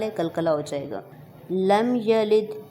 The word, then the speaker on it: لم یلد: لم یلد، اس کو عام طور پر کھینچ کر پڑھا جاتا ہے، تو اس کو بالکل بھی کھینچ کے نہیں پڑھا. دال ساکن ہے، اس وجہ سے وہاں پہ قلقلہ ہوگا.